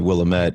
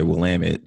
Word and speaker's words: Willamette: for the fact that I said Willamette and you say Willamette so clearly I completely mispronounced that Willamette is not the way I would have read it but okay so if